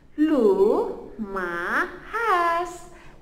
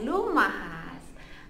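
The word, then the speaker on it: lumahas: Dalam bahasa dusun adalah lu ma has, L-U-L-U, M-M-A, H-E-S, lu ma has.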